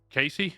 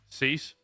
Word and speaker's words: Cease: I can't pronounce it. Is it Casey? Is that how you say it? Dylan, what's it? How do you say his last name? Cease?